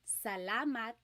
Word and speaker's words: salamat: So the letter A, ah, ah, ah. Not ah and not ah, just ah, ah. So let's practice saying salamat, salamat, salamat.